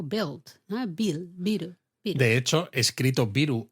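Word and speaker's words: ビール: Biru. Pero atención, eh, con la i larga. Biru, beu, ¿no? De que viene del inglés beer.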